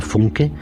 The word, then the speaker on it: Funke: Esta autora, que quizá ya han leído algunos de ustedes, se llama Cornelia Funke, o al menos así pronunciamos su nombre en español.